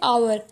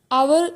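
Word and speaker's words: hour: जैसे आवर। आवर में sound तो वोवेल का ही है लेकिन एच जो लगा हुआ है वह साइलेंट है।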